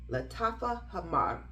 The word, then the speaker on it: Lattafa Hamar: blind buy was the Lattafa Hamar. I hope I rolled my R good, because it deserves to be pronounced properly. Lattafa Hamar. Yeah, it deserves to roll the R in that fragrance.